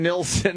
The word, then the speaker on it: Neeson: Liam Neeson is up there already. Why, what's his name? Neil. It's Neeson.